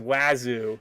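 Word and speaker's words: Wazuh: It's J-Pat says it's definitely pronounced Wazoo. I will start calling it Wazoo from now on.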